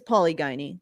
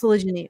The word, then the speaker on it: polygyny: It's it's polygyny. Let's be honest. Polygyny. Yeah. It's polygyny.